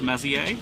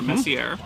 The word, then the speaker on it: Messier: Any object that people label M whatever is going to be from Charles Messier or Messier, again, depending on how you want to pronounce it.